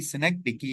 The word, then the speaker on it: synecdoche: इसके बाद जो है स्नेक्डिकी, इसकी सही प्रोनाउंसिएशन इस वर्ड की स्नेक्डिकी है।